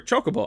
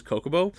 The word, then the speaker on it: Chocobo: Saz Coco or sorry, Chocobo. I always thought it was Coco.